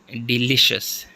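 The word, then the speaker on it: delicious: तरह जो है वह डिलीशियस डिलीशियस सेकंड पर है एल पर है एंड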